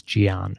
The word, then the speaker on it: Gian: And as most people know me as Gian, because it's phonetically distinct from John.